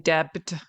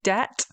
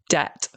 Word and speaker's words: debt: A common mistake is that a lot of people are trying to pronounce the B. They're saying debt.